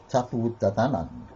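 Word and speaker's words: Tuatha Dé Danann: I can't pronounce that. Tuatha de Danann. Tuatha de Danann.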